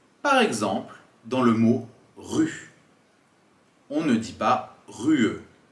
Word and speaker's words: rue: la fin du mot on ne prononce pas le E c'est ce qu'on appelle un e muet par exemple dans le mot rue on ne dit pas